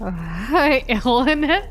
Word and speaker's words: Illinois: Well, why they have the S there. Illinois. Well, they're the ones who name themselves, right? I never heard that. How not? It's spelled that way. How do you not say it every time and have to correct yourself?